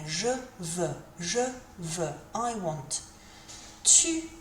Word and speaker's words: veux: Pronunciation-wise, that EUX, think about the number 2 in French, which is de, and think about that E sound. That's what you need to be saying here. Je veux, I want.